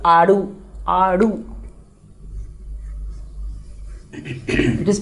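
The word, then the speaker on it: आड़ू: Aadu. It is pronounced as aadu.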